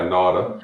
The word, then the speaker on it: Nauta: Am I saying it right? Nauta? Yeah, Nauta. Nauta.